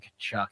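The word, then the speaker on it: Tkachuk: Kachuk is literally spelled with a T, yeah, you're right. and it's K. Yeah, you're It right. starts with a T. But it is K.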